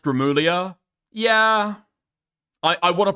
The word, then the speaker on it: Gramuglia: Because his name is pronounced Grimlia.